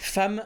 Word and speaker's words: femme: là vous serez triste femme ça s'écrit avec un E et ça se prononce avec un a dès le début on